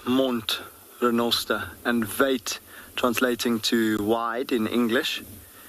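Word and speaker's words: wyd: got Lost in Translation through the mispronunciation or inability to pronounce vait and so it became White and it's not not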